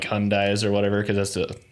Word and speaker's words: Hyundai: series of commercials that said it's pronounced Hyundai and no one listened at all they had